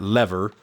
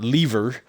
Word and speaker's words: Lever: It is not Fat Lever. It is Fat Lever. His last name is Lever.